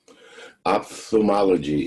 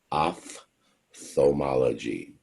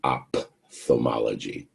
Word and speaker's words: ophthalmology: to do this okay ophthalmology is the way that word is pronounced um let me say it again the oph makes an o f sound off themology is how you would